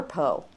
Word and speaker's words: Po: but we're going to pronounce it as PO Boxes as in the river Poe jod Rosenstein and JL